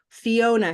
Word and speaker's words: Fiona: Where's the big syllable? Oh, Is it Fiona, Fiona, or Fiona? Fiona. Fiona. So Oh. I'm going to underline. Oh, Oh, the second syllable.